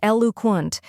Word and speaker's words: eloquent: The correct pronunciation is eloquent. Let's break it down. First we have EL, which sounds like L in elephant.